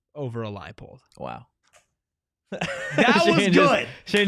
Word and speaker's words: Leipold: Totri beat me in a pronunciation off. First time ever. It's Leipold. Yeah. Let's go. That's big for the program, man. It's no surprise that Shane would favor a Leopold over a Leipold.